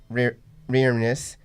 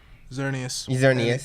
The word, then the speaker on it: Xerneas: For May, it's going to be Rearness or Yveltal. That's a tough one to pronounce. Wait, For- which one? Xerneas.